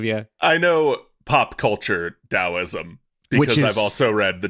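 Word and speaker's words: Taoism: dosm it's spelled with the T TSM it's pronounced dosm which has work recorded as early as around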